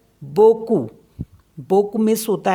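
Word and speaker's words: beaucoup: सारे next word है बोकू बोकू मीस होता है अ लॉट इसको पढ़ते हैं बोकू तो पी जो है इसमें साइलेंट होता है ऐसे ही एल ओ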